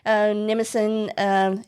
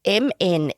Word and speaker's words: Mnemosyne: The daughters of Zeus and Mnemosyne, is that how you say your name? Mnemosyne? It's Mnemosyne. I'm assuming the M is silent, so it's Mnemosyne, who preside over the arts and science.